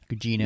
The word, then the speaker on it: Gugino: Yeah, that's how you pronounce her last name. Anyway, Gugino.